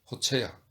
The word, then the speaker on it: 골츠: 장군님의 성함인 골츠는 스페인어로 어떻게 발음합니까? 호체야. 골츠는 희죽 웃으면서 마치 심한 감기에 걸려 기침하는 것처럼 목구멍 깊은 곳에서 나오는 목소리로 말했다.